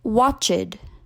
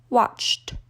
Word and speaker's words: watched: missed watch becomes watched often non-native speakers will say watch it but that's incorrect because we see that the infinitive form of the verb ends in Ch watched the same goes for